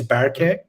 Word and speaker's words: Berke: job it's uh my first name is berkey and last name so overall is um it's